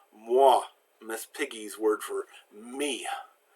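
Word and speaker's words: moi: doing it as ooh oh I always makes the wah sound there's a W sound there so mwah Miss Piggy's word for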